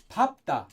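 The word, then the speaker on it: 밟다: it's just pakta and in this one it's papta papta for this is pa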